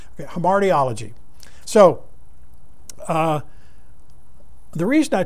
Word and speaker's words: hamartiology: is actually called hemardiology h-a-r-m-a-r-t-i-o-l-o-g-y homartiology might be an eye there okay there hamartiology so uh the reason